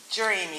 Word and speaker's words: Jeremiah: Jeremiah Hodge. All right, and I think it's Jeremy is what we've been told is how it's pronounced.